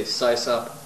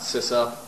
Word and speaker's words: sysop: Oh, by the way, I say scissup, not cis up.